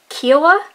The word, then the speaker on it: Kiowa: uh it's Kaa pakan now I've heard it pronounced kiaa but when I've heard people from this tribe speak of themselves they've pronounced it more like ca now admittedly I don't have the accent Regional to where they're from so maybe I'm still saying it kind of wrong but anyways uh for